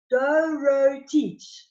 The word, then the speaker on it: Dorotic: Dorotic.